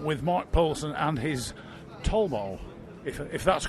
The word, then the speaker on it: Talbot: Mark Poulsen and his Tolbo, if that's correct pronunciation. It's a Torbo for a London Torbo, it's Talbot for a French Talbot, so it depends which one you're talking about, really.